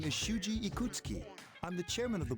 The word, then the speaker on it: Ikutsuki: Why would your name be Ikutsuki and not Ikusuki? Do you really pronounce his name Ikutsuki instead of Ikusuki?